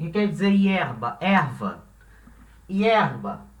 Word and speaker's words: hierba: Por exemplo, palavra hierba. O que quer dizer hierba? Erva. Hierba. A palavra hierba tem duas sílabas. Hierba. A sílaba tônica é a primeira, né?